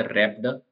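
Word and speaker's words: wrapped: में लपेट के देते उसको बोलते रप गिफ्ट डब्लू साइलेंट होता उसम रिटन आर्टिकल लिखा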